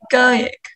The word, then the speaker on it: egoic: So we know the stress is on go, right?